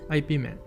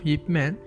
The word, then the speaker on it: Yip Man: So most of the people used to pronounce it as IP Man. However, the name of Yip Man is totally Chinese name.